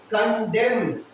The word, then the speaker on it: condemn: उसका स्पेलिंग है CONDEMN, इसको पढ़ते हैं कंडेम, कंडेम। एक और प्रोनाउंसिएशन है इसमें इसका, जिसमें ना लास्ट वाला एन वर्ड साइलेंट हो जाता है, कंडेम में म में खत्म कर दें, कंडेम म